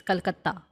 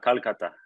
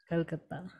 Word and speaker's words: Kolkata: So it's Kolkata. Ha, Calcutta. Kolkata.